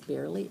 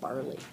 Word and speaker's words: barley: job reading that and the one word she mispronounced as barely it's actually barley does does any you